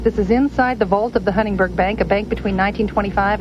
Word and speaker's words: Huntingburg: you like about it you need to pronounce Huntingburg not huntingburger good that was great